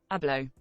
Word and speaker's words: Abloh: Abloh. Abloh. Oh, Virgil Abloh. Okay. Prolific fashion designer Virgil Abloh dies at 41.